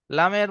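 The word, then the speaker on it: ل: লামের মাখরাজ হলো জিভের আগার কিনারা এবং সামনে উপরে দুই পাশের দাঁতের গোড়ার সাথে লাগিয়ে উচ্চারণ হয়।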